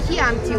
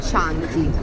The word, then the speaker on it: Chianti: Chianti, not Chianti. Okay. Like the key of the door.